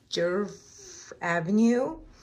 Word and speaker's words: Djerf Avenue: And this is from, I need to learn to pronounce the clothing store, but it's Djerf Avenue, the little set.